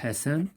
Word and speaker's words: Hassan: Ici, nous avons deux S, donc Hassan, on va l'écrire ici. Il se prononce S.